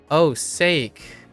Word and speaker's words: sake: Wait, it's the English sake that rhymes with baked cake. Oh, sake.